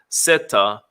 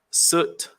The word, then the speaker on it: Set: The hieroglyphic representing the word for Set can be pronounced in various ways, depending on the area of Egypt and the relevant dynasty. Variations such as Seta, Sut, Seth, and of course Set have been put forward as alternatives.